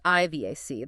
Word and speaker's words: IVAC: That stands for Infection-Related Ventilator-Associated Complication, pronounced IVAC.